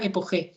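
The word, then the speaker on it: epojé: pongo con j porque el término así castellanizado una buena pronunciación sería epog epog significa suspender de juicio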